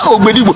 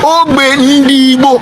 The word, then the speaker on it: Obe Ndibo: They said that they mispronounced it Obedigbo. It was never Obedigbo. It is Obe Ndibo. It is not Obedigbo.